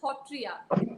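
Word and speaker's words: Sattriya: and our Assam's own Hotriya Nitya, which is spelled as Satriya, Satriya, but it's pronounced as Hotriya.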